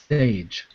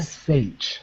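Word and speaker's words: Šejić: between him and Ron Mars, and apparently it's Sage. What? So, Stjepan Sage. That's how you pronounce it.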